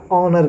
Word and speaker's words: honor: और उसी प्रकार है साइलेंट यच, जहाँ पे यच को साइलेंट रखा जाता है, जैसे HONOR, जिसे हम उच्चारण में ऑनर कहेंगे।